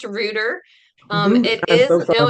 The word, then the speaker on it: Ruder: Ruer, thank you for agreeing to come on today.